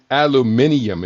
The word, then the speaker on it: aluminium: in critical literature include aluminum hydroxin hydroxide or alum aluminium if you're in the UK that's the pronouncing but aluminum has aluminium has more syllables aluminum hydroxide aluminum phosphate Aluminum potassium sulfate.